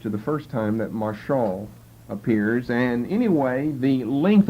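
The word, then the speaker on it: משל: rule that shall rule is simply Michelle M long a sh short a l Marshall which means to rule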